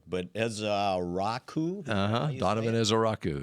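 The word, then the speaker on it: Ezeiruaku: Donovan is a Raku. It's actually easy to say once once you figure out that they don't pay attention to the spelling.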